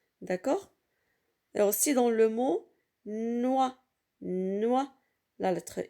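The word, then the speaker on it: noix: le mot de deux ici l'atrix ne se prononcent pas c'est une lettre lui est d'accord aussi dans le mot noa noa la lettre x est une lettre lui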